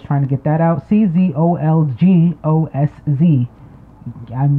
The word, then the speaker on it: Czolgosz: I can't pronounce it it's a cz like Tsar so like this is all that's I was trying to get that out Czolgosz I'm not sure how